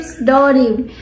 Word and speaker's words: pseudonym: Pseudonym. What? It's pseudonym. Shucks! That is a very hard English word to say. Pseudonym. It's pseudonym. Pseudonym. Pseudonym. Yeah, the P is silent in that word.